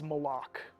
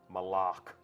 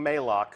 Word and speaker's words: Malok: absence has left uh and that is malok malok right official pronunciation confirmed so if you hear anybody saying Moc send them right here to the archive of this stream our design leaders told us it's malok we actually have a